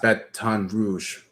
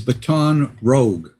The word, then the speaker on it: Baton Rouge: You did that when I mispronounced Baton Rouge. No. It was baton rogue.